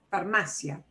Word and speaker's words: farmacia: We punch this more, that is correct. It ends in an A, and the second from last syllable goes back here to this ma syllable, okay? Here's the second to the last, farmacia. The way I say it obeys the rule.